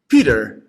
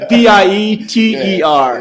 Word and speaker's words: Pieter: No, P-I-E-T-E-R. Yeah. But you say it as like, most of the people, Pieter. people say, here it's Pieter. Yeah. But people call you in English Pieter. Right?